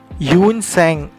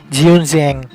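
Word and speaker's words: Xuanzang: Yun Sang जो था ना, HIUENTSANG, एक्चुअली ये इंग्लिश टाइप प्रोनाउंसिएशन है, बट अगर चाइनीज़ टाइप प्रोनाउंसिएशन में स्पेल्ड एज XUENZANG, जियूनजियांग।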